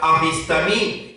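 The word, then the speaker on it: ἀφίστημι: Igualmente, cuando buscamos en el léxico griego, vemos que la palabra apostasía es una traducción de la palabra griega que se pronuncia apistamí, y su definición es hacer, apartarse, causar, retirarse, remover, excitar a la rebelión, apartarse, abandonar, caer, convertirse, infiel.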